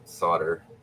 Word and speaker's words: solder: There's an L in the word. Man, the English language is weird sometimes. Like, why do people say solder? Is that just like slang or vernacular? I mean, we pronounce the L in soldier.